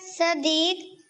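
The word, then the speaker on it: صِدِّیق: صدیق۔ صدیق کی صاد کے نیچے زیر ہے، زبر نہیں ہے، صدیق پڑھ دیتے ہیں بعض، ٹھیک ہے نا؟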